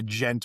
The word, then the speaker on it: Djent: It's the gent like but then the D is silent.